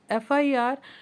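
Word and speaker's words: FIR: put article and before F आई R because guys F आई आर रफल pronounced E एफ एफ आई आर ई एफ एफ आई आर एंड ई FF start by vowels ट्स वई I have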